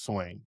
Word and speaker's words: Swain: Dalen Swain. Swain. It's not Swaney. It's Swain.